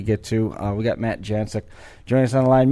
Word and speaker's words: Janczuk: But before we do any of that content that we get to, we got Matt Janczuk joining us on the line.